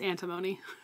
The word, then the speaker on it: Antimony: We always say her name wrong. It's Antimony.